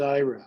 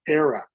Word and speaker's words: Ira: of them in here there's ira which of course if you don't do anything it'll say era but so i corrected that